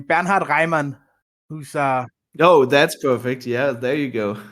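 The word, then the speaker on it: Bernhard Raimann: corrected me last time because she thought I butchered this name banard Ryman who's uh oh that's perfect yeah there you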